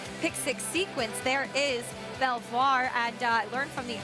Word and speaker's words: Belvoir: on the Potomac River they said you do pronounce the r at the end and a pretty important